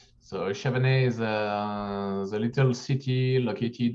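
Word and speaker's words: Chavanay: are sitting in in the and can you pronounce the town for me uh we are located in chavane so chavene is a little city located on the on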